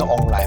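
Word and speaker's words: 王梨: Pineapple in Taiwanese is pronounced "ong lai", which sounds like "prosperity".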